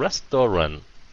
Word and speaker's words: restaurant: Tại sao restaurant? Nhấn âm rest phải không?